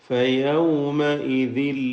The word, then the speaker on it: فَيَوْمَئِذٍ: فَيَوْمَئِذٍ لَّا يَنفَعُ الَّذِينَ ظَلَمُوا فَيَوْمَئِذٍ, ഇവിടെ فَيَوْمَئِذٍ എന്നതിൽ സൂക്ഷിക്കേണ്ടത് വാവിൻ്റെ ഉച്ചാരണം രണ്ട് ചുണ്ടുകളിൽ നിന്ന് തന്നെ വരണം. ചുണ്ടുകൾ വൃത്താകൃതിയിലായിരിക്കും വാവ് ഉച്ചരിക്കുമ്പോൾ.